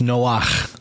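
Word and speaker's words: נח: The male version is actually pronounced Noach with that guttural chet kind of sound, or I think it's a chet. But it's got that guttural at the end of it, Noach, rather than Noah.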